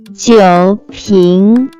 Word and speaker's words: 酒瓶: Let's move to second character, which can be pronounced as 瓶 pronounced with second tone. It stands for bottle. So together it's make 酒瓶 wine, alcohol, bottle.